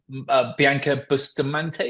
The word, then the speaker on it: Bianca Bustamante: driver going into GB3 um it was um Bianca Bustamante is that how you pronounced last McLaren yeah she's going into Formula